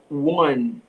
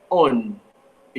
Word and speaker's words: one: Lembre-se, gente, que o one em inglês tem um som de U no começo. Então eu não digo on, eu digo one, certo?